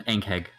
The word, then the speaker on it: Ankheg: Well, I don't remember how it's pronounced, Sin. Ankheg. It's an Ankheg.